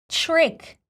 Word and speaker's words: trick: The reality of pronunciation TR combination in American English includes little ch sound, ch, same as in chair. Yes, let's add it. And instead of saying trick, we will say trick.